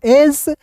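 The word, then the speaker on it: edge: ई जो है साइलेंट होता है या जी ई एक साथ रहेगा तो ज ही होता है।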